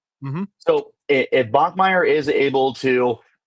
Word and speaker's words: Bachmeier: So if it you say Bachmire is how you pronounce it. Mhm. So if Bachmeer is able to e